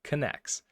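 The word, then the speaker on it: Knex: the readme it says this is pronounced connects so there we're just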